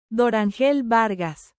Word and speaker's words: Dorángel Vargas: pronunciation is fun uh I believe this guy's name is dorangel varus dangel Vargas is how it would be pronounced uh I have his